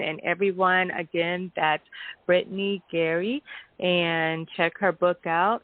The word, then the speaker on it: Guary: Yeah, it's Guary. Brittney Guary. Okay, well, Guary. Yeah, the U is silent. Yep. Right, yeah, because I'm like, I don't know if it's Gary or if it's Guary.